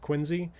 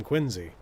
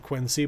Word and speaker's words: Quincy: with the last name Quinzy. It may be spelled Quincy, but that's not how the man pronounced it, so you don't call it that.